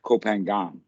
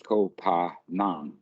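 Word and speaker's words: Koh Phangan: Kopanang, Okay. Kopanang. The type people pronounce it that way because that's how it's written, but the Westerners always pronounce it Kopangan, but Kopangan is wrong. It's Kopanang.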